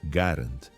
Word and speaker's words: Garand: O correto é garant, seguindo o sobrenome do inventor. No entanto, o termo popular grand se espalhou entre os soldados e civis.